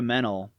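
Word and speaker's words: Mennell: completely freakin stunning Laura mental who I think mental is how you pronounce her last name but she's beautiful she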